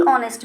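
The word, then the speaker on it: honest: द ऑनेस्ट मैन, द ऑनेस्ट मैन नहीं बोलेंगे, दी ऑनेस्ट मैन बोलेंगे, ठीक है, दी ऑनेस्ट मैन, क्योंकि एच यहाँ पे साइलेंट रहेगा और ओ की साउंड आ रही है, ववल साउंड आ रही है, तो हम बोलेंगे दी ऑनेस्ट मैन।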